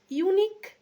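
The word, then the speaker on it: unique: আমরা পড়লাম, সেখানে দেখো ইউনিক, UNI, ইউনিকের ক্ষেত্রে বলছে ইউনিকের উচ্চারণটা, ইউ এর উচ্চারণটা YU, এরকম YU একসাথে থাকলে যেমন উচ্চারণটা হবে সেরকম হচ্ছে। আবার ওয়ান, যেমন সাচ আ ওয়ান, ওয়া, ও এর উচ্চারণটা WA, ওয়া হচ্ছে।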